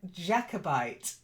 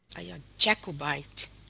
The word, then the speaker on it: Jacobite: oh that's it good then own again very good then Jacobite a jackal bite very good and poured